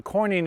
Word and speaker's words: quoin: think are important for one the coining okay coining is spelled q-u-i-o-n what that is is that in